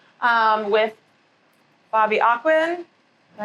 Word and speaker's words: AhQuin: We are doing podcast number 4 with Bobby AhQuin. Did I pronounce that correctly? Yep, AhQuin.